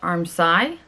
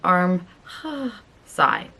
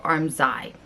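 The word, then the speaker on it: armscye: y e it's pronounced armi like arm sigh or also the S can be pronounced as a z so arm z a lot of times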